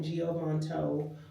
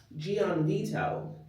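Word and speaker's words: Gianvito: These are by Giovanto. Gian Vito. There we go.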